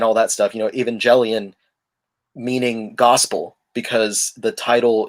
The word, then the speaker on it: Evangelion: so i you know i pronounced it with the soft g evangelion uh because it's it's